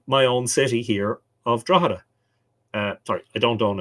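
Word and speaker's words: Drogheda: live here um because an awful lot of people who've never been here or uh who tried to pronounce it for the first time will say drag or draga uh but the g is silent you actually just completely ignore the G draa um and then the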